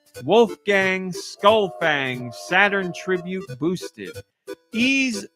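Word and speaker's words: Ys: Skullfang, Saturn Tribute Boosted, Ease X Nordics, the latest in the long-running Ease franchise, and that's spelled Y-S.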